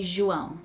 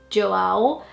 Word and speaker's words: João: We would say João, very nasal, like Try it.